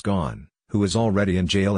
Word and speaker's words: Ghosn: buy personal homes abroad gone pronounced gone who was already in